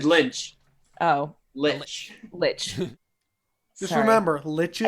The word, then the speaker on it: lich: like, a lynch, and then she A just, lynch? like... What was a lynch? Right, what'd I say? You said You a said lynch. lynch. Oh, Lich.